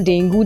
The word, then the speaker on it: Dengue: अगला डे है national डेंगू day. National डेंगी, actually इसको प्रोनाउंस करते हैं डेंगी, आपने बहुत जगह सुना भी होगा।